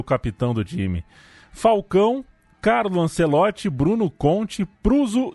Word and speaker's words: Falcão: Momento di grande tensione, Falcao, gol! La Roma vince la Coppa Italia. Il nome mio si pronuncia Falcão, però come il tifoso romanista mi chiama di Falcao, adesso mi chiama Falcao.